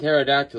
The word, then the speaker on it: pterodactyl: it's not your fault the p and pterodactyl is silent but if you hire